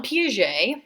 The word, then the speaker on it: Piaget: this guy's name is Jean PJ that's how you say Jean Piaget I think he was French at least a French pronunciation of his name he wasn't around at